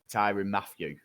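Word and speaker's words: Tyrann Mathieu: what didn't help with the chiefs was that tyrion matthew that is how you say it yeah he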